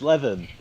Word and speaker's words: Levin: It's me, and it's Levin. It's Todd. Levin? Oh, I've been saying your name wrong all these years.